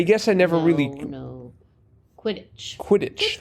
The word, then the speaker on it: Quidditch: Quidditch.